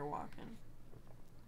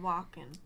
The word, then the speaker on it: Walken: Do you pronounce the L? Or is it Walken? It's Christopher Walken. Walken. I feel like you're kind of saying the L. Walken. Walken. Walken. Like you're walking down the street.